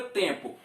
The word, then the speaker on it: tempo: Gente, observe a palavra tempo. Acredito que tem professor que nunca falou isso para o aluno. Tempo, você pronuncia o M? Não. Você não pronuncia, você está pronunciando isto aqui, ó, em.